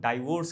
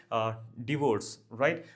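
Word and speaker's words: divorce: और देखना यहाँ पे बहुत सारे लोग डाइवोर्स कहते हैं, प्लीज प्रोनाउंसिएशन के साथ थोड़ा ध्यान रखिए, डिवोर्स, राइट।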